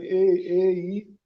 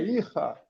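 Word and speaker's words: Eichah: O Ihá, né? Se escreve E-I-C-H-A-H, e aí teve um monte de gente aí, um monte não, algumas pessoas perguntando se era Eicha, mas não é Eicha, é Ihá, e que é uma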